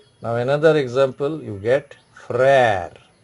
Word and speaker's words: frère: Now another example, you get frère. F-R-E, accent grave, R-E, frère. Frère means brother.